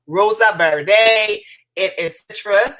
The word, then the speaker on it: Verde: one i think is the verde is how you say it v-e-r-d-e valentino we're almost done